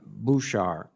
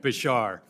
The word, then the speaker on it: Beshar: Mr. Beshar, am I pronouncing that correctly, by the way? More or less, Mr. Chairman. Beshar. Beshar. Well, in Rhode Island, it's Beshar, but Beshar for the moment.